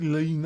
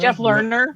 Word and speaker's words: Lerner: Jeff, how do you pronounce it? Lena? Jeff Lerner.